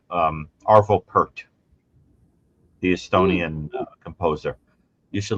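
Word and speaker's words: Pärt: It's written like P A R T, but he's Estonian and I think it's pronounced per.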